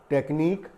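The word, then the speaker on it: technique: हैं पहला वर्ड लिखा हुआ है यहां पर तकनीक टी ए सी ह एन आई के यू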